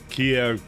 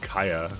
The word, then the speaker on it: Kia: get rid of that Kia pronounced like the car brand like I I you